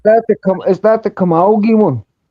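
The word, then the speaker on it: Camogie: Look up the senior all Ireland Kamogi trophy.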